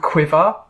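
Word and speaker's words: QuiVr: and a this is so awesome it's called quiver it's spelled Qi VR and it's basically um it's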